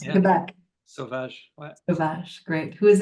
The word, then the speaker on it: Sauvage: Do you pronounce it Sauvage? That's how it would You be did, pronounced in yeah. Quebec. Sauvage.